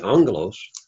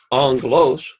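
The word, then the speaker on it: ἄγγελος: So you would find the accent on that particular case, which would be angelos, which would be in the first syllable, the antepenult, angelos.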